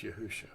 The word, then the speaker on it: Yahushua: i am your deliverer yahushua it has a suffix yahuwah shah it's just pronounced yahusha now we call it